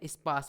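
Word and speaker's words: sparse: इसमें आर जो है एक तरह से साइलेंट है, स्पास बोलते हैं।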